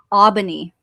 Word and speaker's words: Aubigny: It's Aubigny. Aubigny. You don't say the G?